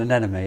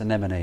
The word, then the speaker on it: anemone: you say an anemone so rather than an enemy it's anemone isn't it that's what